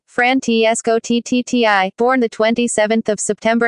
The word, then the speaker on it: Francesco Totti: Francesco Totti, official OMRI, Italian pronunciation, Francesco Totti, born the 27th of September 1976, is an Italian former professional footballer who played for Roma.